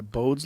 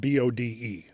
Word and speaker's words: Bode: So, it abides by Bod's law.